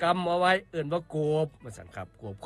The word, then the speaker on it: โกบ: คำ ว่า โกบ ครับ โกบ เขียน สระ โอ ก ไก่ บ ใบ ไม้ รวม กัน แล้ว อ่าน ว่า โกบ ครับ โกบ มี อยู่